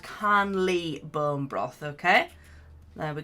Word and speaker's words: Karnlea: have bone broth now I always get this name wrong and I always call it clana but it's called can Lee bone broth okay there